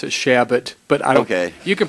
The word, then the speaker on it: Chabot: would a gentleman yield for a second we pronounce it shabbat but okay you can pronounce the chabot which is the friend's pronunciation which is fine